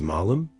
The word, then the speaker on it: malum: In Latin, the noun for evil, as in good and evil, is malum, pronounced with a short a.